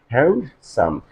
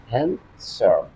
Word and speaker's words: handsome: and try to understand normally this word is pronounced a and hand s o m s and s hand some but try to notice my de n letter